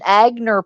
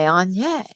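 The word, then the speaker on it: Aigner: And I would pronounce it wrong on purpose to piss her off. So I would go, "Did you get an Agner purse?" And she would literally come unglued because I wouldn't say Anye.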